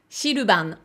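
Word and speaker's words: シルバン: Les Japonais vont a priori le prononcer Shiruban.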